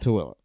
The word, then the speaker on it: Tooele: Tooele. And if you looked at how it's spelled, you wouldn't get Tooele out of it, I promise you.